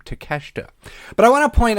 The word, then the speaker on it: Takeshita: it out that's how you say his name takeshita but I want to point out one of